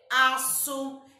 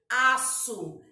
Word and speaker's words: aço: Exemplo, açúcar, aço. É uma palavra que tem o quê? O C cedilha. Indica que a letra será pronunciada com som de S. Aço.